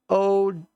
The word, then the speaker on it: Audi: It's pronounced OWDI. I lost track of who you're talking about. I'm sorry. Oh, Audi.